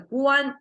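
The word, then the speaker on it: 官: can see here this character means official uh pronounced as a Guan so it's a garment like the emperor assigned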